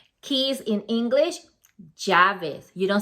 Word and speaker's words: llaves: of the correct pronunciation, double L in Spanish is pronunciated with a Y sound like yo. So you say amarillo. That's the correct way to say the double L sound. Keys in English, llaves.